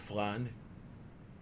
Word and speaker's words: flan: pronounced flan, you silly muppet. Meow. Ask someone who speaks Spanish as their native language. They will tell you it's flan, Not floored. Yeah. not flan. That's how British people say it for some reason.